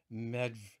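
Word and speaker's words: Medb: and then over here we see queen maeve or i've heard some of the celtic scholars pronounce it queen medve and it's also it's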